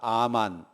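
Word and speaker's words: אָמַן: 히브리 사람들은 충성이라고 하는 단어를 아만이라고 발음했습니다. 한번 따라합시다. 아만.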